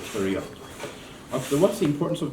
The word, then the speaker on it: pterion: So pterion, it's not pterion, okay? So P is silent, we call it pterion.